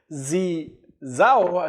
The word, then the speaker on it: Zhao: And then in December 2019, the owner of Binance, or the main founder of Binance, Zhao, as they call it, or Shao, as they call it, some people have different pronunciation.